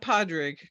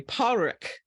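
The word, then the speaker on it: Pádraig: Happened to be in Florida, and he said, "No, it's not Padraig. It's the Americans pronounce the D. It's actually Padraig."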